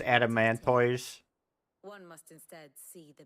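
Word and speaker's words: Adamantoise: Do you know the tale of the blind men and the adamantis? One can often be led astray by focusing too closely. Listen, it's pronounced adamanttoise.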